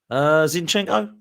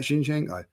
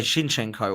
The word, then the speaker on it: Zinchenko: Maybe because you say Shinchenko, whatever it is you say. Shinchenko. Yeah, I thought it was an S. CH.